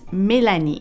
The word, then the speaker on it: Mélanie: for that is that you pronounce it differently in French in French it's milani instead of Melanie I